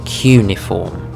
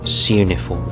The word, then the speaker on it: cuneiform: This, perhaps one of the first known instances of written language and communication, known as cuneiform or suneiform, depending on how you'd like to pronounce it, was basically made up